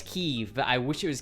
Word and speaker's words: Kyiv: Can't agree to how to pronounce Kyiv. It's Kyiv, but I wish it was Kiev.